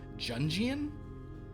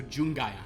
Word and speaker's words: Jungian: versions of themselves very I believe it's pronounced junjian it's a very jungian idea that you have to face Your Shadow Self I might not seen that right oh it's a hard G so jungayan okay yeah oh my